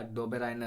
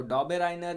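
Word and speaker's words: Döbereiner: पर देखिए किसने कहा, डोबेराइनर ने कहा। ठीक है, कुछ लोग इसको डॉबेराइनर या डोबेराइनर या डाइबेराइनर ऐसा कुछ कहते हैं, तो आप इसका ढेर सारा प्रोनाउंसिएशन है, आप समझ सकते हैं।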